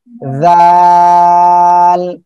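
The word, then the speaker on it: ذال: জিব্বার আগা সামনের উপরে এই দুই দাঁতের আগার সঙ্গে লাগিয়ে একটু নরম করে উচ্চারণ করতে হবে, জাল এভাবে হবে, ঠিক আছে?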